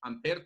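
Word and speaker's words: Ampère: me deja apreciados astrónomos amper tiene una un acento un acento ya nosotros lo olvidan todas partes porque somos clínicos pero como nosotros somos de origen latino vamos a ir siempre es a ese acento en la segunda y amper con la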